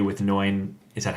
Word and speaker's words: Noin: And one of them is like chapter 2 with Noin.